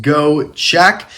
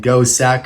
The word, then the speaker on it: Gocek: him open and yes i do believe it's pronounced go check if you put it into a google translator and pop it back out in english that is how siri will tell you it is pronounced so we're gonna go with it it also sounds better than ghost sack or go seek or other variations like that but anyways i got